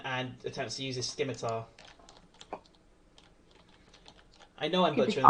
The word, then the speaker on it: scimitar: This goblin up here, because Dylan just attacked him, goes towards Dylan and attempts to use his scimitar. I know I'm butchering the pronunciation of that, but I don't know.